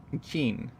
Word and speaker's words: Qin: Oh, by the way, Chinese Q is pronounced as Qi. So then that would be Rome Qi. Qin.